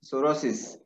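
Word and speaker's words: sorosis: Okay, सोरोसिस spelling P एस ओ आर ओ एस आय एस, इट्स सोरोसिस.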